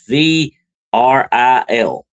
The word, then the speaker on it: Vril: That's V R I L. That's how that's spelled, okay? But it's pronounced Vril like real, but Vril with a V.